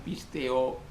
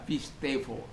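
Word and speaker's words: πιστεύω: Orang katakan pisteo, pisteuo, ya. Tapi dalam pronunciation Greek dalam bahasa Yunani modern itu dibaca pistevo.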